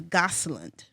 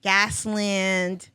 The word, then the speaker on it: Gosland: So, government name is Gosland. People be like Gosland, Gasland, Gaslandy. Gaslandy, right?